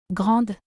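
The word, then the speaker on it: grande: Grand. Here the letter D is pronounced.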